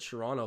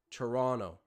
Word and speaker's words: Toronto: I just said Toronto like someone who isn't from the city. Sorry, Toronto, not Toronto. It's a silent T at the end.